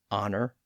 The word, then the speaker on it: honor: H at the front, some of which have retained that silent H, like honor, honest, hour, H-O-U-R, and heir, H-E-I-R.